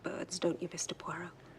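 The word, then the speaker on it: Poirot: Po. No, no, no. Puero. It is pronounced Puero.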